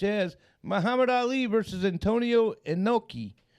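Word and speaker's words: Inoki: Muhammad Ali versus Antonio enoi I think it's actually inaki but I I think I did say it wrong in 1976 and Junior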